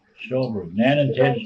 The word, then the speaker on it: Stolberg: Storberg. Stolberg. Nan and Good Ted idea. Stolberg. You were brother and sister. Yes. They had the store there. How do you spell it? Storberg. Stolberg. S-T-O-L-R-B-E-R-G. No. Stolberg. Stolberg.